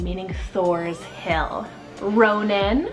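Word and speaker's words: Ronan: an Old English rooted name meaning Thor's Hill Ronin spell r-o-n-a-n Ronin another one that's always been on my list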